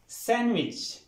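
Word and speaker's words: sandwich: ऐसी बात नहीं है ये वर्ड यूं पढ़ेंगे सैंडविच सैंडविच सैंडविच यहां पे डी साइलेंट करना है यानी डी नहीं पढ़ना पढ़ते हुए सैंडविच क्लियर नेक्स्ट वर्ड है पोएम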